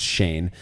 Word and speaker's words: Cheyne: They spell their name Cheyne, but he says it's pronounced Shane.